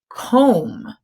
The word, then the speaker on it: comb: it's a comb so when M and B are together we hear the M but we don't hear the B the B is silent